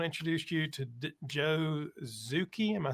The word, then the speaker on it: Zucchi: Well, today I want to introduce you to Joe Zucchi.